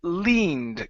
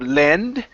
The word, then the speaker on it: leaned: your last one is leaned give me a long e sound instead of lend it's leaned leaned against a tree leaned